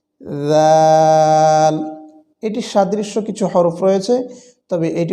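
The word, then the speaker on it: راء: খেয়াল করব যেমন র র অনেকে রা বলে থাকি এটি সঠিক নয় সঠিক উচ্চারণ হচ্ছে র যেহেব্বার আগার উল্টা পিঠ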